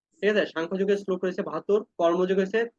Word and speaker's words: সাংখ্যযোগ: আমরা এখানে আরেকটু ভুল করি যে এখানে আমরা বলি সংখ্যা, হ্যাঁ, অনেক সময় এর উচ্চারণ করে আমরা দেখি, প্রায় সময় যে কোনো গীতা শ্লোক শুনি, তো তখন এখানে শোনা যায় যে সংখ্যাযোগ। না, সংখ্যাযোগ কোনো যুগের কথা না, এটা হবে শঙ্খযোগ, সরি, সাংখ্যযোগ।